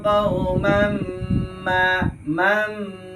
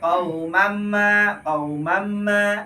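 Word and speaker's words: قومًا ما: Ingat bacanya tidak tergesa-gesa, tidak boleh qaumamma, tapi 2 harokat ditahan sejenak sepanjang 2 harokat.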